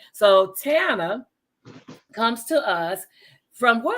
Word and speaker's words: Tana: But today, and I didn't even ask you, are you Tana, Tanae, or the correct pronunciation? Tana. Tana like Montana.